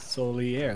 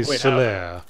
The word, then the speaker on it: Solaire: Solier. That's what I'm saying, isn't it? Solaire? I would say Solaire. How is it pronounced? I would say Solaire. Oh, I have been pronouncing it Solier.